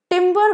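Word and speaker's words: timbre: तो नेक्स्ट वड पेरस टिंबर same pronunciation एक में ई आर है दूसरे में आरई है तो ईआर वाला टिंबर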